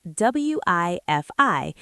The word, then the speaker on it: Wi-Fi: Most people use Wi-Fi, that's spelled W-I-F-I, and we pronounce it Wi-Fi.